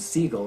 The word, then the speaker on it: Sigil: talk about is a can Adan company named seagull it's spelled s g i l and his website